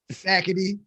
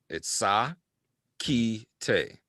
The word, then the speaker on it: Sackitey: Sackity. Or Sackity. Sackity. It's pronounced, for the record. It comes from Ghana, West Africa. That's the name. My birth name. It's Sa Ki Te.